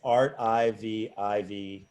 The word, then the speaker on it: Artivive: Oh, I don't know if I pronounce it right. That's why I shied away from it. It's Art I-V-I-V-E. Art Vive.